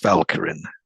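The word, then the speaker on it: Walcheren: It's spelled, people might know it as Walcherin, but it's pronounced Valkyrin.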